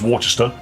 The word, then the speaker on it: Worcestershire: Little bit of Worcestershire sauce. It's pronounced Worcester.